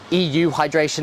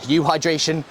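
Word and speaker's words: euhydration: a state of hydration or EU hydration, that's how I pronounce it, or for some other people they'll just say you hydration, you are really going to struggle when it comes to performance.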